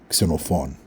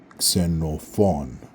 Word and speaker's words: Xenophon: Xenophon. Now breaking it up, I don't know if you heard, but the stress is on the last syllable in my name. Xenophon. Xenophon.